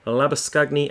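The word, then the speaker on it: Labuschagne: the keeper at three lava scugny at four and that is how i'm pronouncing it because that is the proper afrikaans pronunciation not the butchering labor showing that the australians do abe de villiers is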